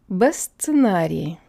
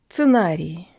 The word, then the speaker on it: сценарий: So instead of сценарий, let's put a B in front of it. Сценарий. All right, so jaw, slightly close. Tongue mushed forwards against the back of the bottom teeth with a tip there. And lips rounded, protruded.